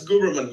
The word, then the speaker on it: Guberman: a special guest here uh is it gooberman is that how you pronounce it guberman yes not a problem so maybe you